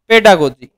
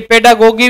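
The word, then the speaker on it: pedagogy: यह लिखिए child centred पेडागोजी अब ये पेडा गोगी भी बोलते हैं हरियाणा वाले और कई इसको कुछ भी बोले अपने को स्पेलिंग याद रखनी है गो गी पेडागोजी भी बोल देते हैं इसको यह आपको ध्यान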